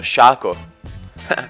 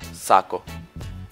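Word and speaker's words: Sako: poi chi è uscito shako shako È quello lì di LOL Veramente no però si legge saako Vabbè più o meno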